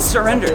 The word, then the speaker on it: SIRWRENDER: if I just say it like that, they're not gonna get it. Yeah, I was like, wait. Oh yeah. Yeah, spell it out.